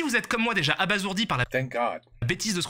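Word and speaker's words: abasourdi: Et si vous êtes comme moi, déjà abazourdi par la bêtise de ce qu'on est en train de vous raconter, accrochez-vous à vos pentacours. Ce qui suit est monstrueux et oui, ça se prononce à bas zourdi.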